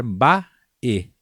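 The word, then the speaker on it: Mba'e: Lembrar sempre de falar bae, bae.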